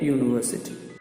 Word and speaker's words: university: the balance of male the sound is a consonant sound wakes you up with a song middle of Italy you live a samba de Rivoli so we pronounce it a university even down in the